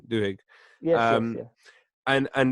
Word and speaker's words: Duhigg: pronunciation? Duhigg.